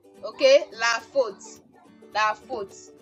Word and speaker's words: la faute: Okay, so we have AU to give us O in words like la faute. Okay, la faute.